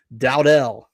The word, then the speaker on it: Dowdle: Every time I've heard it on radio and other people talking about it, Dowdell. I know it's interesting. It looks like Dowdle, but Dowdell.